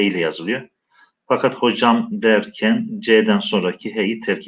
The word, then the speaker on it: hoca: Fakat hocam derken C'den sonraki H'yi terk etmiş. Hoca kelimesi arkadaşlar dilimize Farsçadan girmiş. İşte hoca şeklinde biz Anadolu'da çoğunlukla telaffuz ediyoruz, fakat daha çok Orta Asya'da hace şeklinde telaffuz ediliyor veya çoğul yapılacağı zaman hacegan şeklinde telaffuz ediliyor.